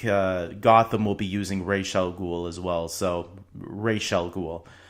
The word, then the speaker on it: Ra's al Ghul: used both looks like Gotham will be using racial ghoul as well so Rachele ghoul not Ra's al